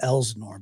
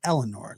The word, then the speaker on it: Elsinore: September of 2024 after He keeps calling it Elsinore, but it's Eleanor. The S is silent.